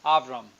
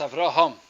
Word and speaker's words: Avraham: pronounced in English its Avram I'll remove it whatever sort of yeah the H gets lost understand it shouldn't that's right so it's Avraham then the pak'ma'ra continues